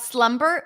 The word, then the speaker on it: Slumber: great question how about Slumber when it's within the word like Slumber slumber party the B is pronounced good question by the